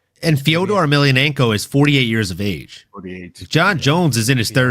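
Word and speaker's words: Fedor Emelianenko: the name he doesn't even know how to pronounce. Like it's Fodor Ailionenko.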